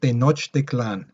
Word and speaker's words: Tenochtitlan: their town their city their headquarters was called tenochtitlan all right that's how it's pronounced right there um it's in the lake